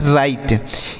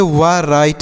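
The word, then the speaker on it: write: इसे क्या पढ़ेंगे सर इसे पढ़ते हैं राइट इसे व राइट नहीं पढ़ना है यहां पर जो डब्लू लिखा गया है आप देख रहे हैं ना पर डब्लू है यह साइलेंट है मतलब इसे नहीं पढ़ा जाता है तो इसे पढ़ेंगे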